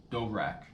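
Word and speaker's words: Dvorak: Yeah, the No Agenda Show with Adam Curry and John How do you pronounce this last name? Dovrak.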